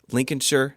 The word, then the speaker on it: Lincolnshire: The best known of the number stations was the EO3 Lincolnshire, I said it right, Lincolnshire Poacher.